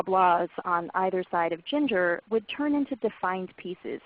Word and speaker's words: Ginger: So if her name were Ginger, you might say Kathy or Bella with the stress on the first syllable.